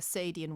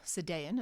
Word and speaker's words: Sadean: It's crucial to understand that Angela Carter was actively engaging with his ideas in her essay uh The Sadean Woman or Sadean as some people pronounce it.